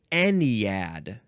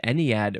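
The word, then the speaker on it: ennead: don't like a thing the next word is anad anad yep e n NE e a e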